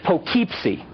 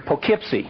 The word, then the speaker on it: Poughkeepsie: at the sign and she said it says pokepc i said allison i know that's how it looks but they pronounce it around here poughkeepsie she said dad if they wanted to say